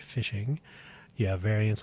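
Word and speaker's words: phishing: Uh, fishing, usually spelled with a ph, fishing.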